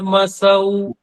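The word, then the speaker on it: चन्द्रमसौ: है ओम सूर चंद्र मसौ सौ ठीक है यहां स पे दो मात्राएं हैं औ की तो यहां बोलना है सूर्य चंद्र मसौ धाता यथा पूर्व मकल्पत देखो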